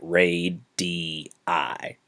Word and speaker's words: radii: of radius is radii okay that's how you pronounce that ray d i so cf ce and